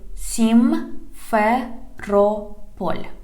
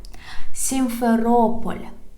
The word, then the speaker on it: Simferopol: Simferopol. Simferopol. Simferopol. Okay, guys, I taught you how to pronounce the largest administrative cities of Ukraine.